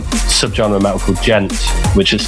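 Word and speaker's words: djent: known in the scen as like subg medical gent which is spelled d g e n t and it's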